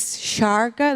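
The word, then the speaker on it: Šárka: Because I'm using, on Twitter, I'm using a handle Sarka as a shark with A in the end. That's just to let people pronounce it correctly. So yeah, it's Sarka, that's Czech.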